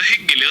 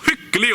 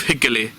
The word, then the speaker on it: hyggelig: Så hyggelig å se deg. Så hyggelig å se deg. Hyggelig. You don't pronounce the G at the end of hyggelig.